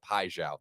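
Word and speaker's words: Paixão: But yeah, let's Lee Sussy says, "Connor, the first syllable in piao is pronounced pi, not pay." Thank you, mate. Okay, so we'll go piao.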